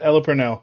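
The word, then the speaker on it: Ella Purnell: um what is that girl's name uh uh Ella Pernell is that is that how you pronounce that KN yeah Ella Pernell yeah she's freaking awesome yeah she is awesome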